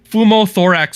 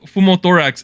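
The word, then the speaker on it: pneumothorax: to be recovering in the hospital after undergoing fumo thorax surgery and if you look up fumo thorax it's collapsed lung so something was wrong with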